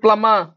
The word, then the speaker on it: plumber: कोन कहउछो रे सर plumber plumber एडे आर भी silent रहइबो बी भी साइलेंट रहइबो plumber plumber तो